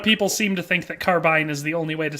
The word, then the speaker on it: carbine: if you're using it in the like a short-barreled rifle, it's both. Carbine or carbine are both acceptable. A lot of people seem to think that carbine is the only way